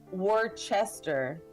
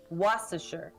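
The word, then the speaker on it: Worcester: street I used to live on is um pronounced like w r CE it if you would think about it you would say Worchester but here's waser waser was waser was that's how I learned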